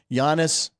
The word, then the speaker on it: Giannis: here we go by the way I did pronounce Giannis correct on his 30th birthday it's his 30th birthday Yannis anmo very I said Chris is on the